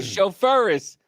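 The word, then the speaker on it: chauffeuse: on the other side somebody spell it out phonetically c h a u f s e a female CH gotcha okay a chauff furus that's it you're a chauffe fury what we're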